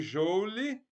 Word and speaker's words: joule: Escreve joule e pronuncia joule, a letra J.